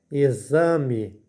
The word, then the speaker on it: exame: vai ficar e exame na palavra exame além da letra x receber o som de z a letra e a última letra e recebe som de i por isso fica exame e x a z